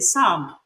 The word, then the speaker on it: psalm: show me your palm it's also silent in Psalm I like to to